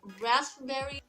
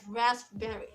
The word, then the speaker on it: raspberry: If you make the pronunciation of this word according to the word, according to the spelling, then it will sound like raspberry. But you don't need to say it as raspberry. The word is raspberry because the P letter in this word is silent.